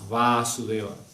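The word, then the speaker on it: Vāsudeva: ante Devaki y Vasudeva, sino que aquí el Vasudeva que hace referencia a Krishna tiene doble acento en la A, Vasudeva, ¿sí?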